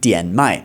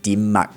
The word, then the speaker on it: Dim Mak: This, by the way, is called Dian Mai, but you'll often hear it pronounced in Cantonese Dim Mak.